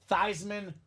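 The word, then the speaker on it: Theismann: players in college football Notre Dame staff gets the idea of let's change your last name so we can say thyman for the Heisman now Joe's a sellout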